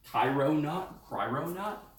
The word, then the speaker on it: Cryonaut: It is Thermal Grizzly Cryonaut, like cryogenics.